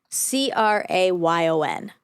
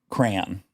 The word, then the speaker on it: crayon: How do you pronounce this word? C R A Y O N. Crayon. Okay. Say it again. Crayon. Give me that blue crayon. Crayon. Crayon. Like C R A N. So, are you saying it one syllable?